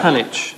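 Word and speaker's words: Panić: Um, Penic is apparently how you pronounce it.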